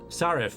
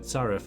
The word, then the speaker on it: Sarif: Sarif, that's it, Sarif. I knew it was like 2 syllables.